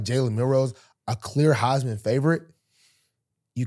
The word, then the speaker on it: Milroe: What is it? Milroe. I like that you call him Mel Rose, though. If he wins the title, man.